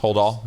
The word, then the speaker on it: Holdahl: Did I get it pronounced? Holdahl? Okay. Holdahl.